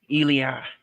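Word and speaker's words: Ilja: Ela dragonov that's how you say his name elah elah yeah that match was uh pretty good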